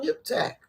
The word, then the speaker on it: Yiphtach: His name is spelled Yiphtach, and I feel like it's a lot with the throat. Yiphtach. I don't have it. Just so Yiphtach.